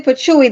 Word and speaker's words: Patchouli: believe but let's see Patchouli Patchouli yeah actually patchouie the L is silent like to add to